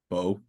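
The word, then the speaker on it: Beau: Bo, Bo.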